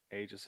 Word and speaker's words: aegis: was it called uh the aegis of vigilance aegis of vigilance got it i believe that's how you pronounce that right yep yeah the aegis of vigilance yeah it was more the aegis part it's like a weird it's like aggies